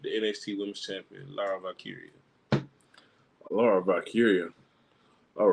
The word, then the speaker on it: Valkyria: Oh, Valkyria, not Valkyrie. I'm tripping. It's with an A, not E.